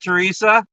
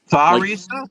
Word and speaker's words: Theresa: No, like th. Like thaw. Tharisa. Like take something out of the freezer. Thaw. Theresa. Tharisa.